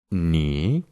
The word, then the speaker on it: knee: El quinto truco es que cuando tenemos una palabra que empieza con una K y después tiene una N, solo vamos a pronunciar la N y no vamos a pronunciar la K.